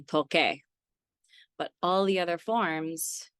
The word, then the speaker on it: toque: That's why we make the C into a Q and add a U, because the U again is silent. So for example, tocar, to play, whether it's an instrument or tocar isn't to touch. So the yo form would be toque.